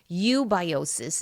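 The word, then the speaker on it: eubiosis: And that when it is in balance, it is called ubiosis. And that is spelled e u b i o s i s.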